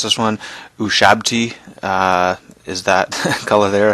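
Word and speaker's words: Ushabti: I think I finally figured out how to pronounce this one us shabti uh is that color there I think tons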